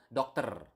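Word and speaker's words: dokter: this in previous lesson you need to pronounce the r okay so doctor not doctor or something like that but doctor okay so with a doctor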